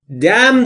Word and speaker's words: Damn: Damn this life. Damn this life. انش خونده نمیشه دوستان.